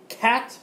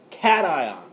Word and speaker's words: cation: Cation is how you say that. Cation.